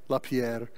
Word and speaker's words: LaPierre: You got to say his name like that, right? LaPierre.